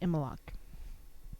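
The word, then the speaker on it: Imbolc: me and so it's spelled IM bol c pronounced EMA lock I don't understand why I'm not sure why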